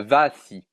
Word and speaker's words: vache: Et donc, en arpitan, il y a la vaci. Ouais. Intéressant. Il y a exactement la même graphie qu'en français, mais le E final se prononce I.